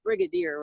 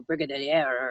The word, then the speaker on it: brigadier: and was like you do know that it's Brigadier right and I'm like oops I think I said you know Brigid any air or something because I was studied French for